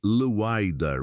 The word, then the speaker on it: lidar: The technology is called lidar, pronounced leidar, which stands for light detection and ranging.